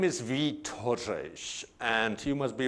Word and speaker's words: Vít: The first name is Vít, V-I-T, call me Vít.